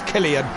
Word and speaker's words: Cillian: of course it's uh it's green pies it's killian um and i know exactly how to say